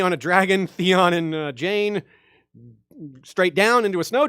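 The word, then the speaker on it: Jeyne: foes theon one jane jane it rhymes with airplane aka big walder won't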